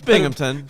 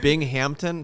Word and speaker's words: Binghamton: they're if they exist i mean it's binghamton but if you want to call them bing hampton sure they're going up